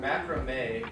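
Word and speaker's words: macramé: Okay, so it's pronounced macrame.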